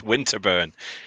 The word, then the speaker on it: Winterburn: And How did you pronounce your name? Winterburn? it's Winterburn.